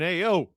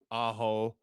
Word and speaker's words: Aho: D, Sebastian Ao. 84% of you got this right the first time. And 86% of you got it right the second time. C is the correct answer. Sebastian Aho.